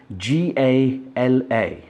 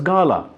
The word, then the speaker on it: gala: moving on to nether where is GA LA it's like a fate people in India I've heard people pronouncing it as gala I'm really sorry to say it is not girl it is pronounced gala it's literally pronounced together check the dictionary if